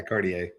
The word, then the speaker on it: Cartier: And nice Cartier car- Cartier? Is that how you say it? Watch? Yeah, Cartier.